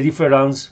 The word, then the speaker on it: différance: e por una a difference con e se pronuncia igual que difference con a pero se escribe diferente